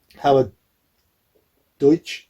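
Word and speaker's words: Howard Deutch: can't remember his name on the road um howard deutsch is how you pronounce it i howard deutsch yeah because he's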